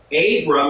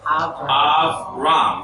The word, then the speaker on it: Avram: When you soften the B, it goes to a V sound. So Abram is really what? Avram.